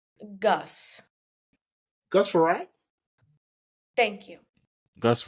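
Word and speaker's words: Frerotte: Gus Farrat? Thank you. Gus Farrat? Yeah, you guys are correct. It is Gus Farrat.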